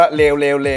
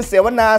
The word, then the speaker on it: เสวนา: เสว ๆ อะไร เนี่ย เสว บาง คน ใน คอมเมนต์ บอก อ่าน ว่า เลว ๆ ๆ โอ้โห อย่าง ชั่ว นี่ ผม ไม่ ได้ คิด นะ ใน คอมเมนต์ เ อ่าน มา เออ มัน มี สอ เสือ มัน คือ เสวนา เสวนา เสวนา เสวนา เสวนา